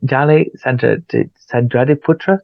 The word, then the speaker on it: Dally Sandradiputra: And Dali Sandradiputra, did I say it right? Yes, you're right, I Andy.